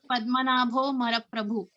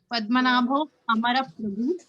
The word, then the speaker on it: Padmanabho Amara Prabhu: we pronounce it as Padmanabho Mara Prabhu. But actually, if you try to dig into the root word, it is Padmanabho Amara Prabhu.